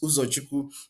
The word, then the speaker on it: Uzochukwu: my YouTube channel, but U there stands for my real name, Uzochukwu. Sorry if you're not from Nigeria or from Igbo tribe in Nigeria, you may not be able to pronounce that. It's Uzochukwu, then.